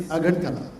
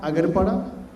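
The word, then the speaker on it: Agartala: Sometimes our state is mispronounced but remember it is Agarala not Agarara not Akawa.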